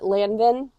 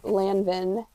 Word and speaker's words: Lanvin: YouTube how to say Lanvin properly. And the lady who tried to correct me, she didn't even say it properly. N is not pronounced. No, because IN is also un. Un.